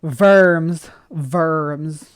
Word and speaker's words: Worms: Like in Germany, they have the city named Worms. Well, they might pronounce it Worms or something different, but that Verms.